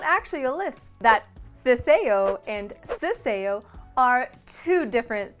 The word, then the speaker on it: ceceo: the spanish lisp the theo with two c's is the sound english speakers identify as the spanish lisp it takes place when the letters s c before e and i and z are pronounced the same as the english th as in thing mostly used in spain